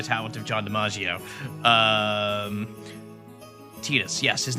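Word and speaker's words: Tidus: there, but I can't really do like talking Tetus, but narration Tetus like I can do that cadence kind of.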